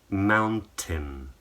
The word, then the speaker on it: mountain: So it should rhyme with the word tin. So copy me. Mountain, fountain, captain.